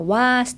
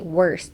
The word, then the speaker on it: worst: だから worst って横に開くんじゃなくて縦に worst って開いたら発音しやすいと思います。